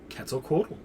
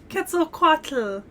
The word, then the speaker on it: Quetzalcoatl: have the pronunciation perfect i'm going off the uh nahuatl uh pronunciation which uses that at the end of the one and is uh cats like k-e-t-z quetzalco so that's the pronunciation